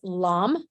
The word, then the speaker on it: Lam: And that's pronounced, that mantra right there here is pronounced LAM.